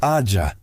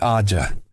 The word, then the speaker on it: Aja: The album is called AA, pronounced like the continent Asia.